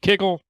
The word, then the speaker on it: kugel: Some people pronounce it kugel, some people pronounce it kiggle. It depends on whether you're Ashkenazi or what have you.